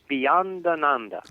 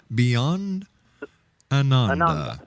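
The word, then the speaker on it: Beyondananda: Once again, how do you pronounce the name of your alter ego? Bhayananda. Beyond Ananda.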